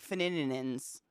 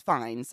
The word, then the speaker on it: Fiennes: That's why I always want to say like Fininins, but it's Fiennes, I think.